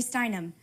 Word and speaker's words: Steinem: stein right so uh try to try to uh pronounce the ending sound every single word in every single word